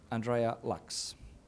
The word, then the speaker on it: Andreea Lachsz: And finally, Andreea Lachsz. Get the pronunciation correct?